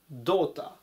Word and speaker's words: daughter: ます 347 板 daughter daughter 娘ですね単語も難しいですし読むのも難しいんですけれどもどうたらという風に発音します 348 板 hope